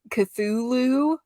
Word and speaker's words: Cthulhu: it's Abraham Slam fighting Cthulhu with it spelled like Lou, and I love that.